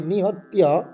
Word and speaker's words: নিহত্য: এই যে নিহত্য, তিয়া তয় ফলা, এবং নিহত্য এখানে কিন্তু কোনো দীর্ঘস্বর নেই, আমরা টান দেব না।